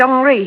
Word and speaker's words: Henri: He pronounces it Henri.